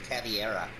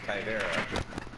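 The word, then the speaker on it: Caveira: we played this game together about how people mispronounce Kyvera's name and they say it's Caviera.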